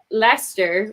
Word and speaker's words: Leicester: over in the uk they have lester which is not even spelled and i made a